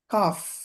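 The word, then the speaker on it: cough: সি ও ইউ জি এইচ, কফ, কফ, কফ, কাশি। তো এখানে দেখুন এই জায়গার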